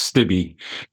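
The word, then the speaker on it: Stibbe: It's pronounced Stibby.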